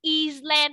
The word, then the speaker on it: island: Nó là âm cầm nên là tụi con không có phát âm cái chữ S lên.